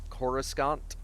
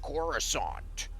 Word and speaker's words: Coruscant: only ever written down so if people wanted to pronounce it Coruscant then okay that's just a pronunciation and here's my take on on it's pronounced corusant how do you know